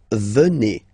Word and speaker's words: venez: Then, classic ending for vous, a Z here, and then you pronounce it et, vous, venez. Vous, venez.